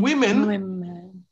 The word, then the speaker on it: women: So in women, women. In women, the O is giving us the same E sound here.